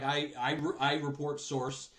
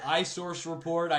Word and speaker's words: iReportSource: And with a system like iReportSource. And I'll say it right now, guys. I've learned the wrong way. I've been calling it iSource report.